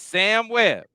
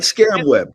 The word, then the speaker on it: Sam Webb: It's Sam Webb. Now, you spell it just like it sounds, Buckeyes. Okay. Not Scam Web. Not Just, Sam Web. yeah, just sound it.